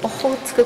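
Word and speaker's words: オホーツク: And how do we pronounce this word? Ohotsuku culture.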